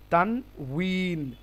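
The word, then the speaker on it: تنوين: দোপেশের নাম কি তানন বাংলাতে যদি আমরা লিখি তাহলে তানবিন লিখতে কিন্তু আরবিতে কি হবে? তানউন তানউন। ঠিক আছে?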